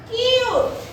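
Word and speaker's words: cute: যেমন কিউট কি? কিউট। এখানে ইউ এর উচ্চারণটা একটু বড় হয়ে গেছে কিনা বলো।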